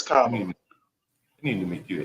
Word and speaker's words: Kamala: Camellia? What did you say? Yeah, well, Camellia like Dahlia would work, but it's Kamala.